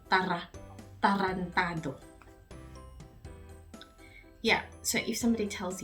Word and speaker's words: tarantado: So, tarantado. When you're saying R in Tagalog, you need to roll your R's more. So, tarantado.